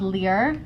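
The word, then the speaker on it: Lir: This one's called Lear, L-I-R.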